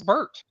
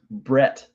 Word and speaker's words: Bert: And I love there's how do you mispronounce Bert? I've heard Brett. Somebody called him Brett. Actually, Bart.